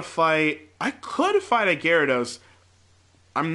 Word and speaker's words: Gyarados: purposefully call it a Gyarados I don't think that's actually how you pronounce it I think it's like jira daus or something but I call it